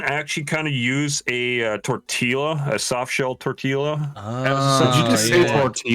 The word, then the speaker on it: tortilla: Tortilla. He said he said tortilla. Tortilla. Why are you saying L?